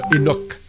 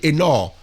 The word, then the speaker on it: Enoch: C'était le mot Enoch. Alors on dit Eno mais normalement on doit dire enor parce que c'est c'est la voilà on doit prononcer enor ce motl.